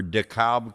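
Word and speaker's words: DeKalb: uh fiberboard sign uh for dakob corn it's spelled d-k-a-l-b it's written on a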